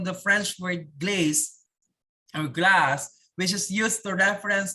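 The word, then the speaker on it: glace: okay that is glaze pero you pronounce it glass okay glacia and canyon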